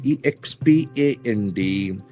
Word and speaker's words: expand: E X P A N D. So this is a very interesting verb. Expand. Expand. There are two syllables and the accent falls on the second syllable.